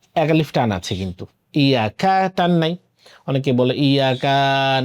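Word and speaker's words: إياك: অনেকে ইয়াকে শক্ত করে, বলে ইজ্জাকা, বলে ইজ্জাকা, ইজ্জানা।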